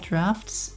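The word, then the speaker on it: draughts: not gonna worry about drought's not I'm not gonna worry about a complicated AI quite just yet it's called drafts I've been saying it wrong this whole time oh no okay well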